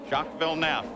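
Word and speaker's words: Jacques Villeneuve: Shockville Nef. By the way, the pronunciation has changed at the request of Jack himself and of other members of his teams.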